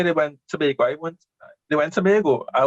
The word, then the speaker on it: Tobago: It's Tobago. Do a lot of people? I heard a lot of people say Tobago. A lot of people say Tobago.